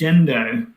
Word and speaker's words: Gendo: It's pronounced Jendo, but the the name um comes from Well, this is I might have a very halfbaked story to be honest.